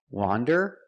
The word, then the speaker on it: wander: Wander is pronounced with the short O sound. The sound ah like you hear in hot and stop. Wan. Wander. It's an open sound.